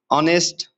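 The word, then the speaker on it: honest: वैसे तो इसके साथ एच है। हम ना लगाते मगर एच यहां पर साइलेंट है।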